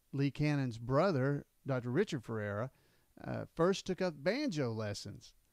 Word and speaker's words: Ferrara: Ferrara. Ferrara. But that's how it's pronounced.